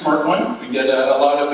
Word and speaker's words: SMRT1: all you smart one it is pronounced smart one we get a lot